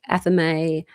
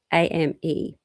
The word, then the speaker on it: athame: So it's spelled Athame. And some people pronounce it as athame, and we use it to cut through energy or to even project energy.